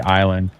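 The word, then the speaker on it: Islay: it's a little bitty Island very PD is that the ISL all right yeah it's Isla just pronounce Isla that stuff's all except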